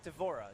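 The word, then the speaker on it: D'Vorah: devote to do is it how did you pronounce her name devorah is that right devorah yes so what's the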